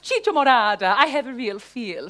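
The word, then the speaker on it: chicha morada: the time sampling the kaichamorada Morada I'm sorry it's pronounced Chicho Morada I have a real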